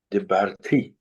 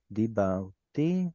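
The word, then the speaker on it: דִּבַּרְתִּי: Dibarti. Very good. Dibarti. Dibarti. Yeah. Dibarti, like this, with a strong dagesh there.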